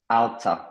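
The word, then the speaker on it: alter: altérer altérer modifier ouais alta donc le r c'est pareil tu peux le le barrer pour la prononciation il se prononce pas alta et modify ok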